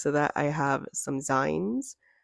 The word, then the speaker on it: zine: that I have some zines I recognize that they are actually pronounced Zine from magazine but I like saying sign so I will continue to do so and next to